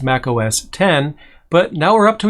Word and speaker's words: Mac OS X: the operating system as mac os x the x is and has always been a roman numeral for 10 it was supposed to be pronounced mac os 10 but now we're up